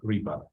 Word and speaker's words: repo: Короткое название репозитория в русском языке репа, в английском языке она читается как repo.